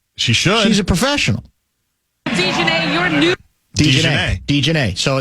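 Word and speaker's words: Dijonai: What I have is Dejanay Carrington. D-E-E, that's the pronunciation I'm saying. Dejanay Carrington. That's what I've been told is the closest we've got yet to the correct pronunciation.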